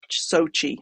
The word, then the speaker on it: SOCI: told is pronounced so Sochi like the city in Russia where the Winter Olympics were if everybody remembers that